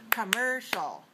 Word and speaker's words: commercial: the first word is commercial commcial commercial commcial commercial has three syllables and it's dressed on the second one so it's three two